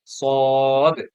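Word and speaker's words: ص: কি সদ আপনারা আমি যেভাবে উচ্চারণ করি সেভাবে উচ্চারণ করার চেষ্টা করবেন সদ একটু ধাক্কা দিচ্ছি এই ধাক্কা দিয়েই পড়বেন সদ আচ্ছা সদের উপর যদি একটা নুক্তা দেই তাহলে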